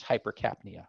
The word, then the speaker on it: hypercapnia: Okay, they'll say high CO2, high carbon dioxide, but, you know, just a medical term for it, or correct pronunciation, is hypercapnia. So hyper is high, capnia is carbon dioxide, so hypercapnia.